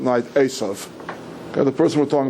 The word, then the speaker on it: Eisav: Isa is how it's always transliterated into English. I'm going to use the Hebrew pronunciation throughout. Asov. Okay. The person we're talking about is Asov.